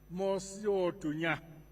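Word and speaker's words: Mosi-oa-Tunya: Actually, its actual name is Mosiotunya. That's the correct name.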